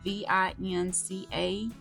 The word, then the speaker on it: Vinca: I'm gonna spell it out because I know that I'm not gonna pronounce this right. It's Vinca, and I have the blueberry white, a mix, and a pink.